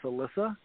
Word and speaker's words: Alicia: thanks for being on and how do i pronounce your name it's alyssa okay yeah i always i always uh twist